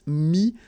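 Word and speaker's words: mis: Mi, same advice here, don't pronounce the final S like we had here. T is not pronounced, S is not pronounced.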